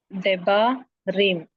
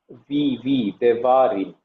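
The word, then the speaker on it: דברים: Debarim. Bet is not carrying a dagesh, lene, so it should be pronounced as, how will you pronounce it? Once again. Deba. Devarim.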